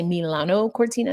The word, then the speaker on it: Milano Cortina: when it comes to, I'm going to say Milano Cortina, because that's how the locals say it.